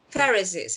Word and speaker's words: Pharisees: kernels some of the fur how do you pronounce it pharisees pharisees asked why are you doing what is un